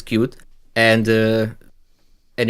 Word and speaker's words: Qt: pronounce it for example a qt is cute and uh and it's